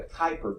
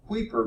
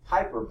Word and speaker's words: Kuiper: exactly the pronunciation here I would call this the Kuiper belt but I've heard someone call it the weeper belt which sounds rather bizarre to me and I actually